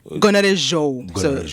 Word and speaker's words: Gonarezhou: So I pronounce this right? Gonarezhou? Gonarezhou.